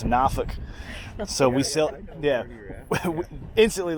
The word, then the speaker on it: Norfolk: And the first place me and my wife ever sailed to was from Norfolk, which they get mad at when you say it like that. It's Norfolk.